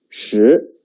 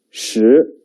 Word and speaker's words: 十: The pronunciation is 十. 跟我读. 十. 十.